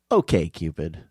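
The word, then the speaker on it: OkCupid: know also who cares it should be pronounced Okay Cupid it was I always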